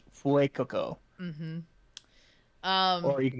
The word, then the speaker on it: Fuecoco: It's Fuecoco. um It's like his Fuego, but they changed the G to a C, so it's like Fuecoco.